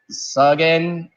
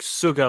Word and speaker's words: Suga: He said Sugen. He said it with an N. That word does not. That letter is not. I know how to pronounce it. It's like Suga, like Suga Dick.